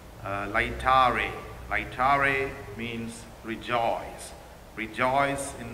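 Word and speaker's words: Laetare: My dear brothers and sisters, the fourth Sunday of Lent is called Lectari Sunday. Lectari is the English pronunciation of the word. In Latin, it says Lectare.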